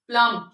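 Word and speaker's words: plumb: के बहुत सारे हो जैसे प्लम प्लम ये बोलने में ये दोनों सेम है लेकिन यहां पे बी साइलेंट है बी इसलिए साइलेंट कर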